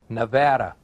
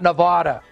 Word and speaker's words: Nevada: Nevada, not Nevada.